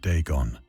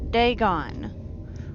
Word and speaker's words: Dagon: ancient Philistine legend of deeon the fish God I've been pronouncing it wrong day gone was the main diety